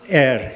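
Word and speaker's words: Éire: How do you pronounce Ireland in Irish? Okay, air, yeah?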